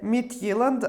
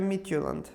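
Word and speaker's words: Midtjylland: Joking aside… -You know, they also say Midt-yi-land, but it’s Midt-yu-land.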